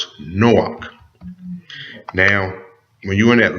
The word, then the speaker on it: Chanowk: And in the Hebrew, it is pronounced Chanowk.